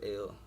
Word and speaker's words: El: My last name is El, which is pronounced ill, depending on, your dialect.